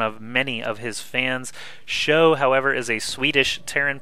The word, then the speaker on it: SjoW: experience but he did show some incredible play in this tournament and I did just use the word show and his name is pronounced like that so it's almost a